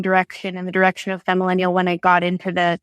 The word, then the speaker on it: Femmillennial: Okay, tell me about Femmillennial. Okay, good job. You pronounced it correctly.